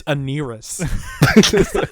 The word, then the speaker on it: Anarres: pronounced like that. It's Anarres.